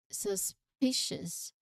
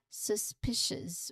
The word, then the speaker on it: suspicious: Pronunciation wise, you emphasize on the second syllable P. So suspicious. Again, suspicious.